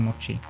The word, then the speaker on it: mochi: watch the uh mochi it's mochi the correct pronunciation i get i'm not